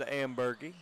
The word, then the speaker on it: Amberie: Apparently, we've been uh we had Mr. Ambery's name wrong. It is Jed Amberie.